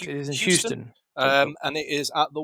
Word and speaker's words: Houston: It is in Houston. And it is at the War Dome on April 26th to the 27th. That's pronounced dome.